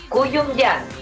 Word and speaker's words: Kouyoumdjian: ¿Cómo se pronuncia? Kouyon-yan.